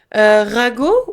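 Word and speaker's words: ragot: Rago ou gosip tu pourrais dire como que gosipl rag pero no ragu como la comida no es diferente.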